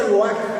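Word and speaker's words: רוח: vamos al original griego es la palabra roac ro pero se pronuncia roac como con g esa palabra literalmente significa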